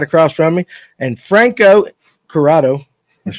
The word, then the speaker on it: Curotto: Ryan Hanks right there, right across from me, and Franco Curotto.